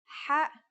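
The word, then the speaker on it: ح: According to phonetic charts, ha is pronounced in a deeper part of the throat than kha.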